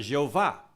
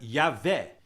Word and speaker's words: Yahvé: de 4 consoantes, J-H-V-H, de onde surgiu a palavra Jeová. Mas é um erro, porque o J é pronunciado como Y, e o V se pronuncia V mesmo. Então, em português, a pronúncia seria Y-H-V-H, de onde vem a palavra Yahvé.